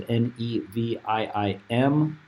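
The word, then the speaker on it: Nevi'im: for that as well, which is spelled and pronunciated in English as Nevim.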